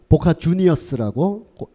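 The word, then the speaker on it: Boca Juniors: 이 아르헨티나는 스페인어를 쓰기 때문에 이거를 보카 후니오라고 멋있게 읽어야 된다라는 일부 몰지각한 팬들도 있는데 아르헨티나가 스페인어를 쓰는 건 맞지만 이 팀은 원래 영국인들이 창설한 팀이라서 그 스펠링을 보카 후니오르라고 읽으면 안 되고 보카 주니어스라고 영국식 발음으로 읽는 게 아르헨티나 사람들도 타당한 거의 뭐 광기의 현장입니다.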